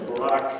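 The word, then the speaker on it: Barak: rounded by Deborah and Barrett or Barack um if you want to pronounce that way then the midianites whom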